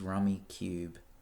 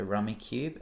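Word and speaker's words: Rummikub: cool 21 is 1980s rummy cube is how I say it it's spelled rummy cub but I'm pretty sure it's rummy cube because you play with rectangular tiles which are similar to cubes because they're rectangles but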